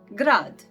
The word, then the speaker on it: grad: Croatian word grad. Grad. Grad. And it means city, and it is actually like G in the go.